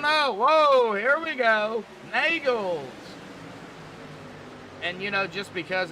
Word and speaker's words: Nagels: crap out of him, I'm going to call him Neagles. Even though he told me how to pronounce his last name. I'm just going to call him that. I like picking on the drivers. I only do it for fun. But it's actually pronounced Nagels.